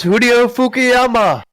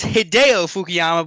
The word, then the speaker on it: Hideo Fukuyama: of Dale Earnhardt Michael who is Julio fukuyama we'll give it to you it is hideo fukuyama we get you're trying